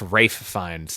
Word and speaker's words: Ralph Fiennes: I think it's Rafe Fiennes, too. I think it's how it's actually pronounced. Rafe, yeah.